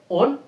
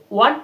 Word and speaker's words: won: এর উচ্চারণটা কি? উইন, ওয়ান ওয়ান, WON, WON, কখনোই ওন না। আর উইন স্পেলিংটা হচ্ছে WIN, ঠিক আছে। আর ওন, WON past tense, R past participle ওন, ওন নয়, ওয়ান ওয়ান, উইন ওয়ান ওয়ান।